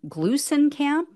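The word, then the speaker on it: Gluesenkamp: So Marie Glusenkamp, I think is how you pronounce her last name, Glusenkamp Perez, she won.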